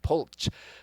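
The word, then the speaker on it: Polcz: was pulse but it was p-o-l-c-zed p-o-l-c-z pulch but then the canadian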